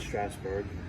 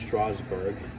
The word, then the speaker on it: Strasburg: That's actually how it's pronounced. For 20 years, I always said Strasburg. It's pronounced Strasburg.